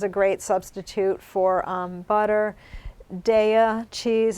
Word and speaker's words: Daiya: Daiya cheese, it's spelled. How is that, Daiya? It's Is it good. It's Daiya.